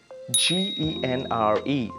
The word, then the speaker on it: genre: what is wrong right next one would be g-e-n-r-e that is genre genre yes it uh some